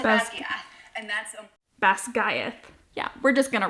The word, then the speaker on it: Basgiath: was totally off I said Bas and that's Bas GTH yeah we're just going to roll with it